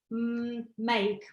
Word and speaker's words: make: In the word make, so we've got M, A, K, and E, and we don't pronounce E on the end, because it's connected with A. Right. So we only read A. This is the split digraph, and it's split by letter K.